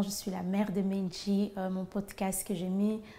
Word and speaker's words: Menji: Le nom Menji vient déjà à la prononciation que je fais maintenant, c'est vraiment pas bien. Donc, un bad example. C'est dit Menji, hein, ça vient de l'intelligence, les pensées en Chiluba.